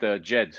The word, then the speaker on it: Djed: You actually pronounce it JED.